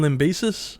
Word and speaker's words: Lambesis: All right, for the next one we're going to be talking about is Tim Am I going to mispronounce this? Tim Lambesis, is it? Yep, Tim Lambesis.